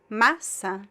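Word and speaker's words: massa: The stress is in the first syllable. Masa. Masa. There's no nasal sound.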